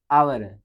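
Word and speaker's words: hour: यू शुड finish योर work in dash आवर। तो यहाँ पर क्या लिखा गया है, ये तो लिखा है, लेकिन इसका जो प्रोनाउंसिएशन करेंगे यानी कि उच्चारण करेंगे तो क्या आएगा, आवर पढ़ा जाता है।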